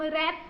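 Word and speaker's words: wrap: ए एन S blue A आर ए पी तो हम रेप कहेंगे उसे और आई टी तो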